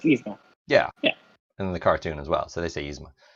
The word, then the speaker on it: Yzma: Some people say Yasma, Yzma. No, it's Yzma.